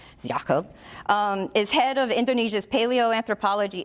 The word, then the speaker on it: Jakob: Jakob which is spelled Jacob but I looked it up and the proper Indonesian pronunciation I hope Jakob his head of Indonesia's